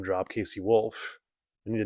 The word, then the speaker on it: KC Wolf: His name is Casey Wolf.